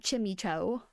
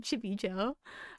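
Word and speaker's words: Chimecho: they did Chimeco cuz some like maniacs out there pronounce it Chimmy Cho. I I found out somehow they pronounce it Chibicho.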